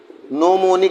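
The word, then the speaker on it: gnomonic: रहेगा केंद्र में रहेगा इंग्लिश में कहते हैं नमोनी की स्पेलिंग जी से शुरू हो रही है तो जी इसमें साइलेंट है दूसरा है गली प्रक्षेप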